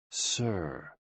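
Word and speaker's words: 呬: SI, pronounced like sir, with a slow exhale, which is associated with the lungs.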